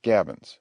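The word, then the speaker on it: gabion: forms a complete breastwork the word is pronounced gabin the Fashions pronounced Fashions are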